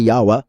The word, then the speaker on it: Yahweh: What we pronounce as yahweh and they pronounce as yahwa is yad key vavi. So how can they say that yahweh is pagan if they're worshiping the same one just pronouncing it differently?